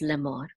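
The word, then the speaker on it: לֵאמֹר: So if the accent was supposed to be in the first syllable, this would go over here. Okay, but it's not, it's at the end, so it's lemor.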